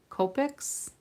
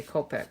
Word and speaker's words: Copic: Phonetics would say Copic because you've got a vowel with only one consonant in between the two vowels.